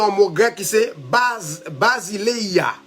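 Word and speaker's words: βασιλεία: Maintenant, royaume, non, il vient dans un mot grec qui c'est basileia. Basileia. Je vais me prononcer là comme ça l'écrit.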